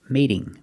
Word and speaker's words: mating: But if I say mating, now the T is between two vowels, so it's a fast D. Mating, mating.